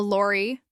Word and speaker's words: lorry: A lorry, a large vehicle for carrying heavy goods. Don't forget the stress on the first syllable. Lorry, not lorry.